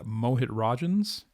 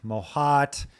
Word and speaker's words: Mohit Rajhans: I get Mohit a lot. Mohit? Oh my gosh. I get Mojito. Mohit, Mohat, Mohoot, Moshit.